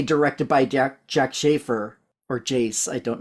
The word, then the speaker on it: Jac: It's when they say directed by Jack Schaefer, or Jace. I don't know how you pronounce her first name.